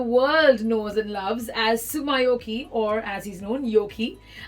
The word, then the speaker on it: Tsumyoki: Is it Tsumyoki or Yoki? What works better? Whatever you can pronounce better. First of all, am I pronouncing it right? Yes, you are.